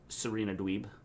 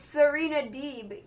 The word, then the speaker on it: Serena Deeb: had big swole defeated serena dweeb it's not selena dweeb oh deeb sorry it's and you didn't even say her name right you said serena dweeb it's serena deeb so i said serena